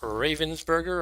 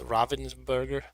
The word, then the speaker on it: Ravensburger: is a game by ravensberger or perhaps since it's German it will be pronounced Robin's burger Robin's burgator or something like that anyway um